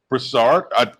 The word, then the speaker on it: Broussard: Andrea Broussard. Did I pronounce that correctly?